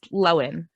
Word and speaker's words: Lohan: pronouncing it wrong and she's never made a point to be like by the way guys it's low end you know to be